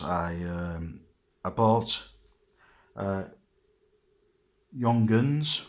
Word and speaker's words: Junghans: um I bought uh Yong gun which is spelled with a J as it's a a German clock I bought a clock